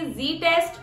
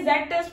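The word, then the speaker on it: Z-test: तो इसमें सबसे पहले तो हम लोग लेंगे कि जी टेस्ट और टी टेस्ट। जेड को बेटा ये जेड टेस्ट मत पढ़ना, इसको जी टेस्ट प्रोनाउंस किया जाता है, ठीक है।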